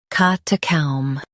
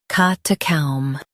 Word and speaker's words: catacomb: catacomb Now, read the syllables shown on the screen naturally. ca ta comb catacomb Stress cat and keep comb soft.